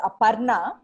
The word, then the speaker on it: Aparna: a lot cindy um my name in india is pronounced as aparna but when you say apna it means mind so when you say